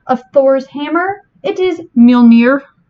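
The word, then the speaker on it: Mjölnir: thor's hammer it is mjolnir this one is hard to pronounce if you like you have to get the right sound for that mj in the front so yeah no near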